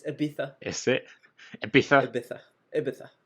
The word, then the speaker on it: Ibiza: It was in Ibiza. What the? It's Ibiza.